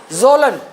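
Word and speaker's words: Kjølen: कौन सी, जोलन, के साइलेंट होगा, JOLEN, जोलन पर्वत श्रृंखला।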